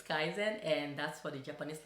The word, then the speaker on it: Kaizen: their Japanese language maybe people pronouncing it wrong well it's Kaizen and that's for the